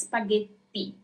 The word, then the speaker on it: spaghetti: There is a double T, so you really have to make it sound like there is a double T. So it's spaghetti. It's not T, but T.